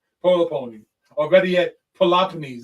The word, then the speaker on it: Peloponnese: Or better yet, Peloponnese is the better word to put it. That's the way it's supposed to be pronounced.